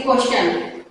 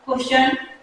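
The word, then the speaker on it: question: है, देन वहां पर टी का प्रोनाउंसिएशन च की साउंड में होगा। कैसे? जैसे क्वेश्चन, अब देखिए यहाँ एस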